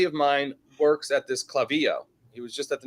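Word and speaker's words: Klaviyo: about the IPO Market what's clavio remind me kvyo they just went public software stock oh yeah I actually do know that's how you pronounce it but all right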